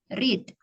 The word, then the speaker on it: read: sama Cut bentuk pertama read ya bentuk keduanya dan ketiganya penulisannya sama hanya hanya saja caraa cara membacanya saja yang berbeda yaitu red Ya sama sama seperti mengucapkan warna merah dalam bahasa Inggris red ya ya selanjutnya kita